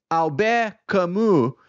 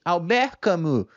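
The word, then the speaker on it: Albert Camus: livro A peste dele alber camu certo se é que minha pronúncia fez algum sentido Espero que sim alber camu ok e enfim um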